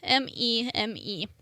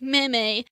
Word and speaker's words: meme: My word of the day today is meme, M-E-M-E. And it is not pronounced meme or any other pronunciation.